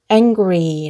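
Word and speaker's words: angry: 처음 부터 읽어 보면 , A 는 "a" 이고 , N 은 "ng" 로 끝나는 소리 입니다 . G 는 "g" , R 은 "r", Y 는 "ee" 소리 가 납니다 . 그러니까 " 앵그리 " 라고 발음 해야 해 요 .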